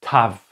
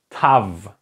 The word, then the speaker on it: Tav: And this one is called Tav. Tav. Okay, Tav, like in the first part, if you can remember, we had the Tet. And the Tet and the Tav have exactly the same pronunciations.